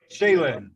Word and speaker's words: Schalin: of that sorry everybody pronounced shaylan as like a shaolin monk almost if you are not